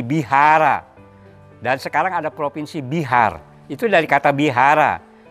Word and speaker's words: Bihar: Dan sekarang ada provinsi Bihar, itu dari kata Bihara. Bihara A pendeknya nggak dibaca jadi Bihar.